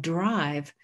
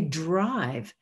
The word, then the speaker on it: drive: consonant blend like drive, that blend needs two boxes because each of the consonants is articulated in the word, d, r, I know we co-articulate when we say drive, but that is not one sound in the beginning. Dive is different from drive because there's an er in there.